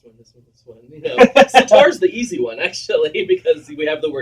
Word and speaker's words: sitar: I learned about I keep I'm never going to be able to pronounce this correctly. Sitar.